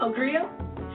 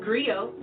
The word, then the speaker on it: griot: I want to share that history with you agree oh it's pronounced griot or English agree eyes it's the West African